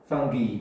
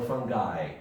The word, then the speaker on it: fungi: uh one fungus two for me fungi or fungi yeah both pronunciations are okay uh how do you